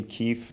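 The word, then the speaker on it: Kif: Is your name pronounced Kip? It's actually Keith, K-I-F, Keith.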